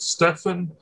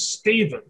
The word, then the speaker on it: Stephen: wasn't like steep steep stefan yes i i keep mispronouncing it i don't know why i'm like it's like that's t-e-p-h-e-n but like it's steven it's steven yeah there's no view